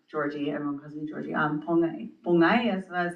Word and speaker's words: Pongyesva: Pongyesva is how you say in Hopi, but Pongyesva is how sometimes I introduce myself, so people can announce it.